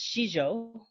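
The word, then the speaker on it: sijo: So in English, it is spelled S-I-J-O, and it's pronounced Shizho.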